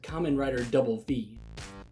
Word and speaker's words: Kamen Rider VV: Another name was Kamen Rider V, from the Roman numeral 5, and doubling down with yet another V, except being spoken as Kamen Rider Double V.